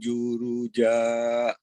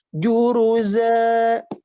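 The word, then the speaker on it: جرزا: Wa inna la ma alaiha so'idam juruja. Oke, juruzanya itu patokannya pakai huruf Z ya dalam bahasa Latinnya. Juruza.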